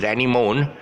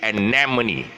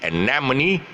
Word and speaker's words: anemone: it it's a small flower and it's always pronounced as animone whereas the real spirit spelling the real pronunciation sorry the real pronunciation is anemone the real pronunciation is anemone but it's often pronounced as animone because what